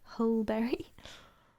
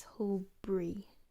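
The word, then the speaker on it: Hulbury: sorry whole berry um but it's not berry it's whole bree who bree like two syllables um and if we did pronounce it as three it would be whole boo re not whole berry wholebury there's a lot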